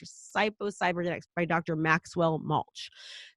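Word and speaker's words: Psycho-Cybernetics: evidence if you read psycho cyber genetics psycho cybernetics by Dr Maxwell mulch psycho-cyber genetics I always say it wrong Dr Maxwell mulch it's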